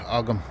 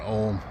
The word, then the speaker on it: Ogham: the sides of them, what became known as Ogham or Ohm, as some people like to pronounce them.